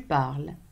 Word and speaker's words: parles: So parler, you would say je parle, tu parles, il parle. As you can see, it's the same pronunciation.